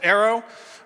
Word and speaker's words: ERO: do own Aerosports uh ero well we pronounce it Arrow because a lot of our focus is on aerodynamics I've been doing bike